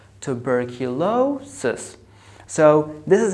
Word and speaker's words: tuberculosis: You have the second syllable, it has the secondary stress, and the fourth syllable has a primary stress. So you say tuberculosis, tuberculosis.